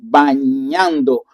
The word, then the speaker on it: bañando: And remember the pronunciation with the ñ. So we did that in our first lesson of for the vowels of the pronunciation bañando.